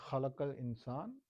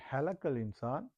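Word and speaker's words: خَلَقَ الْإِنسَانَ: So right here it's a khalaqal insan, Allah created the human being. So if you say halakal insan, Allah, what do you say, is cut.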